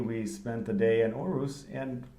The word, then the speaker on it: Aarhus: Aarhus, yes.